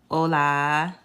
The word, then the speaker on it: hola: So I already told you rule number 1, the H is silent. Okay, so that's where we get our words like, hola and hotel.